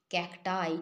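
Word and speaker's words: cacti: বসিয়ে দেব আই তাহলে ক্যাকটাস থেকে ক্যাটি কিন্তু নয় ক্যাটাই ঠিক করে প্রোনাউন্স করবে এরপরে এক্স বা আই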